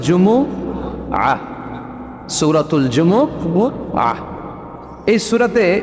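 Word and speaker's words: جمعة: বলি আসলে বলা উচিত জুমাবার কি জুমাবার سورہটার নাম হচ্ছে সূরাতুۃ الجمعہ আমার সাথে সাথে বলেন সূরাতুল জুম সবাই বলেন সূরাতুল জুম অনেকে বলে ফেলে জুমা জুমা আসলে আরবিতে শুদ্ধ উচ্চারণটা হচ্ছে জুমু আহ সূরাতুল জুমু আহ এই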